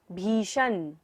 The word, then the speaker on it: भीषण: उद्भूत, भीषण, श कौन सा है यहाँ पर? मूर्धन्य श, तो हमें मूर्धा से उच्चारण करना है।